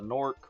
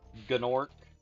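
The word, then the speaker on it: Gnorc: The most the main type of enemy is the Norc or Ganorc. It's spelled G N O R C. I think it's supposed to be a silent G, but a lot of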